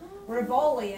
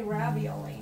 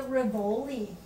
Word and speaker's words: Rivoli: Rivoli, I guess. I keep wanting to say ravioli, but that's not right. There's no A in it. Where was the Rivoli located?